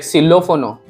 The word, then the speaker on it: xilófono: Okay, and then X is X, X. It sounds like sa. Here like xilófono, xilófono. And Y also have three sound like ya, ja, ya also, ja also, and sha also.